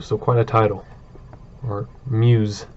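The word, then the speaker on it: Meux: So, Admiral of the Fleet, the Honorable Sir Headworth Mew. So, quite a title. Or Mews. So, it's pronounced Mews. Sir Edward Mews.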